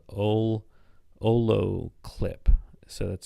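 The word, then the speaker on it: olloclip: more shooting now there's a website called ole olo clip so that's spelled o-l-l-o-c-l-i-p dot clip and it's just like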